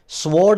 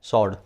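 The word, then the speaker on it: sword: जो वर्ड है ना इसमें व साइलेंट होता है वैसे ही बता रहा हूं मतलब पेपर में नहीं आएगा पर कहीं बोलना पद जाए कहीं सुनना पद जाए स्वोर्ड नहीं होता है क्या होता है स्वोर्ड क्यों क्योंकि व साइलेंट है क्रॉस है ना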